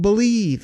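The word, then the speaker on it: Bleav: That's called Believe, and that's spelled B-L-E-A-V in Lions, Believe in Lions with myself, and Lions legendary safety, Benny Blades.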